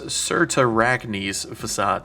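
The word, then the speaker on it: Cyrtarachne's Facade: time but after doing some Googling it's actually pronounced certar acne's facade so certain arachni's facade I'm sure many people are just going to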